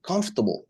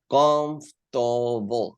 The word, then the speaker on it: comfortable: than that chair okay comfortable how many syllables have comfortable comfortable three syllables so since this adjective